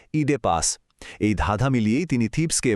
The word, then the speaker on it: Oedipus: ইংরেজিতে ওডিপিইউএস লেখা হলেও ঐতিহাসিকভাবে এর সঠিক উচ্চারণ হলো ইডে পাস।